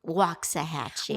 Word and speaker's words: Waxahachie: Waxahachie. Waxahachie. Do you want me to spell it for you?